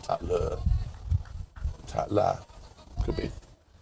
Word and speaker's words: Tatla: But no, it's spelled differently. This is Tatla, not Tatler.